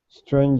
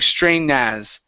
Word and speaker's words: strange: it was okay try that one more time strange as it was perfect okay so if you